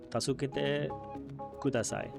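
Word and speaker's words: 助けてください: But coming back to it, so how is, like, my pronunciation, I think, would be tasukete kudasai. Your pronunciation was great.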